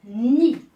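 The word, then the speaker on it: nid: La lettre D, s'il se trouve à la fin du mot et qui n'est pas suivie d'une voyelle, on ne la prononce pas, on ne l'entend pas. Exemple, ni.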